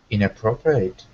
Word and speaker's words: inappropriate: Inappropriate. Good, except at the very end, it looks like eight, but it's pronounced just like the word it, inappropriate.